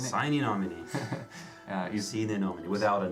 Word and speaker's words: Sine Nomine: I think that's how he probably would have pronounced it. Sine Nomine. Sine Nomine.